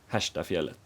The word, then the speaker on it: Herrestadsfjället: I will later be corrected, since it is actually pronounced “Heschtafjället”.